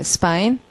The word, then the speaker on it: spine: 파인 앞에다 s 붙이는 거예요. spine.